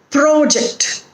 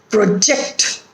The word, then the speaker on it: project: So we put accent or stress on the first syllable when the word is a noun or an adjective, and when the word is a verb, we put accent or stress on the second syllable.